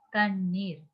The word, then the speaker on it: தண்ணீர்: தண்ணீர். இங்க பாருங்க மாணவர்களே. இங்கு தண்ணீர் என்று கூறும்போது இங்க 3 சொல்லியும் நான் உச்சரிக்கும் போது தண்ணீர்ங்கிறது நாக்கு நல்லாக பின்னோக்கியவாறு தான் உச்சரிக்க வேண்டும் என்று எங்களுக்கு ஏற்கனவே நாங்க கூறியது போல பின்னோக்கியவாறு தான் உச்சரிக்க வேண்டும்.